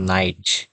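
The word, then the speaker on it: night: যেমন এন আই জি এইচ এখানে আমরা সাধারণত নাইট আমরা আই এর মত উচ্চারণ করি। এই তিনটা থেকে আমরা আই এর মত উচ্চারণ করি। কারণ এখানে যখন তিনটা পাশাপাশি বসবে তখন এই জি এর উচ্চারণ হবে না।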